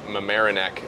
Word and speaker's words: Mamaroneck: Open at Wingfoot in Mamaroneck. That's the proper pronunciation because I butchered it in the video apparently.